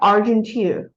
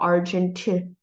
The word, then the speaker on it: Argenteuil: And the title of this picture is called The Garden at Argenteuil. So the word is French, so you don't pronounce the I and L. Argenteuil.